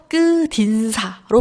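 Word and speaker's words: 끝인사: 그렇기 때문에 일단 그 음절 끝소리 규칙이 먼저 그 적용이 되어서 끝이 티귿이 디귿으로 발음이 되죠. 그래서 끝 인사. 그리고 그때 이제 국의 음악가 일어나지 않고 그냥 연음이 되어서 끄딘사로 발음이 되게 됩니다.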